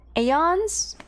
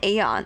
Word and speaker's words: aeon: it really called an aeon is that how you say it how you say the name or is it just Eon is it Iyana aeon it's eon then that's the same production